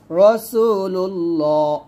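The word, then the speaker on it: رسول الله: ফেলব তাহলে হবে রাসুলুল্লাহ এখানে রা না বললে এখানে র বলতে হবে রসুলুল্লাহ এরকম আপ বলেন লা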